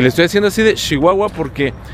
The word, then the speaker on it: Chihuahua: estoy haciendo así de Chihuahua porque la gente aquí habla así así pronuncia la la che la ch se dice leche muchacho Chihuahua platicando con las personas